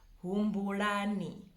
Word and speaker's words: Humbulani: The last name in the H is Humbulani. Humbulani. Also that L at the end, it's a very strong L, not an R. Humbulani.